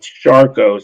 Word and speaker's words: Charcot: There was a it's called Charcot syndrome. It's spelled CHARCOT syndrome.